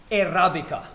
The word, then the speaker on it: Airabica: Today we are visiting Airabica. Am I pronouncing that correctly?